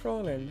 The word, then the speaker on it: Fräulein: Oh, he's speaking in Deutsch, meine Fräulein.